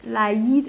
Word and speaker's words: l'Aïd: Et je mets 2 points sur le I pour prononcer l'Aïd et pas l'Aïd. L'Aïd.